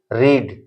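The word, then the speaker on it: read: देखते हैं पहला है रीड खाएगा तीनों सेम लेकिन इसका प्र रेड होगा रीड रेड रेड रीडिंग रीड्स ध्यान देने की बात है तीनों का स्पेलिंग सेम लेकिन प्रोनंसिएशन अलग रीड रेड रेड रीडिंग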